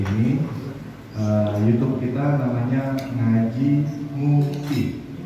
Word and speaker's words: Ngupi: YouTube kita namanya Ngaji Ngupi, pakai U ya, Ngupi. Jadi ejaan orang Betawi ya, Ngupi.